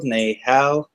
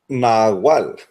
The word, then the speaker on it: Nahual: Is it like Nahal? Nahual.